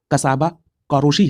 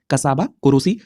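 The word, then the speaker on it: Csaba Kőrösi: कई जगह पर कसाबा कोरोशी है, तो इसका प्रोनाउंसिएशन यही है कसाबा कोरोसी, जो कि हंगरी से संबंधित है।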